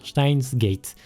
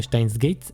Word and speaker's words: Steins;Gate: Je le prononce comme ça normalement. Steins Gate.